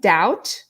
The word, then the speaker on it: doubt: headings certainty or doubt be careful also with the pronunciation of doubt even though we have B we don't really pronounce it mmm baby is